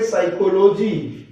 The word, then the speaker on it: psyche: ये होगा PSYCHE, साइकी, इसमें P साइलेंट रहेगा।